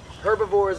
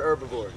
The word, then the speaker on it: herbivores: herbivores herbivores very good you can pronounce the h if you want to I don't care herbivores or herbivores sometimes I go back